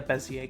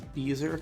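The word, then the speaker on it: Bézier: okay I'll try a bezier curve I used to pronounce these beaser curves cuz I was dumb yeah beaser curves I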